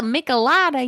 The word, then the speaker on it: michelada: well so it's um it's a mexican drink so that does that change how you pronounce the name to you um still being no no michelada right yeah i would think so i guess i don't have to like pronounce it so like you know anglo um which i did it's a michelada y'all um i think you're